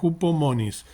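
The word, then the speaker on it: ὑπομονή: Se escribe con H, hupomones se escribe, pero hupomonis se pronuncia, que es una palabra que significa perseverancia,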